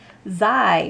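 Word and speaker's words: ξ: in the greek alphabet it is pronounced zai which rhymes with i there are only 24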